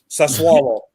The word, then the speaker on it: Sassuolo: Sassuolo. That's how you say it.